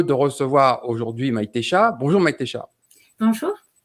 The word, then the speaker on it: Maitexa: Bonjour Maïtécha. Bonjour. Je prononce bien ton prénom? Très bien. C'est la première fois que je voyais un X qui se prononçait en che, donc comme on a